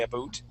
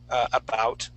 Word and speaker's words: about: proximity to Canada and how can Canada uh pronounces words like about they say AB boot instead of uh uh about okay so but where I was raised we